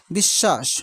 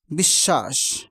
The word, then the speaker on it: বিশ্বাস: সদ দুইবার উচ্চারিত হচ্ছে এভাবে বিশ্বাস বফলা উচ্চারণ নেই কিন্তু পূর্ববর্ণ দুইবার উচ্চারিত হচ্ছে বিশ্বাস এভাবে অশ অশ শব্দে